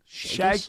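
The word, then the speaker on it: Chagas: Oh, the sheaggus. Is that how you say it? Shaggus.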